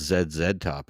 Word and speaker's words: ZZ Top: gas it's actually it's it's pronounced zed zed top in Canada jayzed is there any